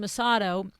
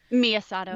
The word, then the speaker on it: Miyasato: And so you go to this showroom, Sloan Masato. Is that how you say it? Sloan Masato? Miyasato. Yeah. Miyasato. And, they know you.